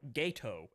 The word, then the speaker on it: Gato: It's a Gateau class submarine or ghetto as apparently it's pronounced.